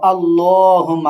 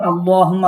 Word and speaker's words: اللهم: আর আল্লাহুম্মা আপনি বলেন তো। আল্লাহুম্মা। আবার আল্লাহুম্মা। হুম্মা না, এটা হচ্ছে ধাক্কা দিয়া হা। আল্লাহুম্মা হা যেটা ধাক্কা দিতে হয় সেই হা এখানে।